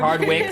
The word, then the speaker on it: Hardwick: Hardwick. Hardwick.